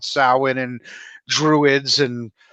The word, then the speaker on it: Samhain: know talk about uh not sam hayne but how is it pronounced in ireland when yeah talk about samhain and druids and how